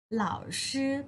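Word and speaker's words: 老师: เหล่า ชื่อ นะ คะ วิธี การ สะกด เลิก อ่าว หล่าว ชื่อ เล่า ชื่อ เหล่าซือ แปล ว่า คุณ ครู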